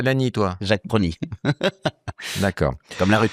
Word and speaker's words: Pronis: C'est pas ça, c'est que vous l'avez mal prononcé, le S ne se prononce pas. Vous voyez, tu dis des succès à l'année, toi. Jacques Prony.